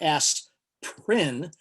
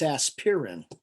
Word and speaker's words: aspirin: may not know but aspirin actually has three syllables it's not as prin it's aspirin so this is aspirin